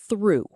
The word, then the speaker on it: through: Sounds like through. Rhymes with blue and do. Tip, the OUGH here sounds like ooh.